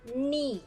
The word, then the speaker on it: knee: And then you need to understand about some alphabet that silent pronunciate or no sound, like knee, not knee. Okay, knee, just knee without the K, knee.